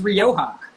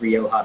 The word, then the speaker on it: Rioja: is a row it's i'm not going to pronounce it right yeah so this is rioja so rioja rioja rioja is a region in